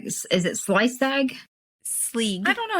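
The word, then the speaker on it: Sgaeyl: Sleeg. I don't know how to say it. That's the way the audiobook pronounces Sleezag? it. Sleeg. Just Sleeg.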